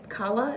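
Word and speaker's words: Calla: i guess you s kala is how it's pronounced from book five to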